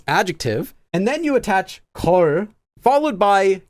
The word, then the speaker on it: 걸: Now, because of this lir, due to sound change rules, although it's always spelled as 걸, it actually is always pronounced in this form as 걸, with a double consonant there.